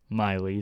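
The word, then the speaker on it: Miele: Miley, that's how you pronounce it.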